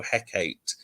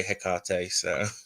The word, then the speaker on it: Hecate: still have people that say it like how Shakespeare said, Hecate, and I suppose there's no right or wrong way if it works for you, but I say Hecate.